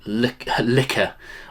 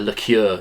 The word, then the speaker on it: liquor: uh henstone this is the old dog corn liquor I called it a liqueur in the video and people can't stand it